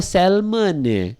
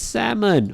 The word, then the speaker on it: salmon: I don't know yeah salmon has a silent L so every time I go to a shop and I order salmon be like huh what salmon yeah you could do or sell money no it's salmon oh god people yeah